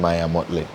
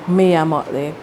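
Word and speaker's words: Mia Mottley: I mean, that the pre-interview you mentioned Maya Motley. Maya Motley. That the pre-interview, I believe. Mia Motley. Yes. Sorry, I pronounced it. Yeah, Mia Motley.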